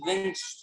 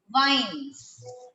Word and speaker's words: vingt: Ma'am, Winch. Ma'am, Huh? Winch. Very nice. Vin, that's vines.